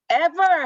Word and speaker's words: ever: 자, 그거 발음을 생각해서 한 번 더 해보고 ever 할 때 여기 두 번째 라인에 that, whoever 할 때 ever이에요. ever가 아니고 ever 이렇게 발음이 되는 거야. 위에 니가 아래 입술에 살짝 닿아야지만 이 발음이 날 수 있습니다.